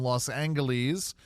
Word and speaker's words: Los Angeles: this weekend out in Los Angeles cuz yes I say it with a hard G um what's going to